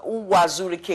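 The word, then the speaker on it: Uwazuruike: Ricky I mean I don't know if I pronounced hua Zhu Rica yes that's his name what's your relationship with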